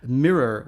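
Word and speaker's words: Myrror: world and it's called Mira I'm pronouncing it weirdly because it's spelled with a Y so it's called mirror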